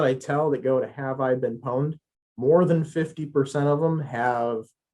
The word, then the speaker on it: Have I Been Pwned: So if you go to Have I Been Pwned, that's how it's pronounced, PWNED, Have I Been Pwned, .com.